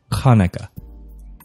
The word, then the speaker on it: Hanukkah: learning a new language I like to try to pronounce this correctly Hanukkah that was right did I get it